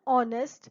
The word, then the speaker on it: honest: He was an honest, hard-working lawyer. Honest H is silent, so an.